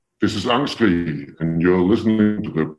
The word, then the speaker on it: Angstkrig: Angstkrig, so Angstkrig with a G at the end.